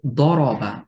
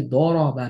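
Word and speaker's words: ضرب: আবার যদি দ থেকে লিখি দরবা, আমি যদি দরবা না বলে যদি বলি দারাবা, ভুল উচ্চারণ হবে এবং অর্থ পরিবর্তন হয়ে যাবে।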